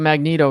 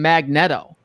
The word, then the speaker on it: Magneto: Okay, X-Men: The Trial of Magneto #2, or as some people say, Magneto. Which I always wondered back in the day if they called him Magneto, because if you were really trying to pronounce it phonetically, I think that's probably what you would have said back in the day. I know people from who back then call him Magneto, but it's Magneto. You're wrong.